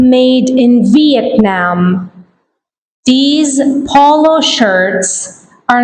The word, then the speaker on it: Vietnam: Did you notice the pronunciation of this word? V. Vietnam. Not Vietnam. Vietnam.